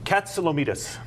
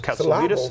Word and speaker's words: Katsilometes: It ends as metis. Metis doesn't rhyme with Wheaties. Wheaties. That's a lot of people get tripped up on the last syllable, but it's Katsilometes.